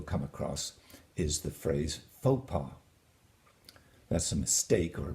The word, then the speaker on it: faux pas: And you'll see that both the X and the S are silent, so it's faux pas, not fox pas.